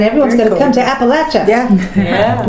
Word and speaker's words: Appalachia: going to come to appalachia yeah yeah we know how to say it now yeah oh my god someone will put an apple at you but don't do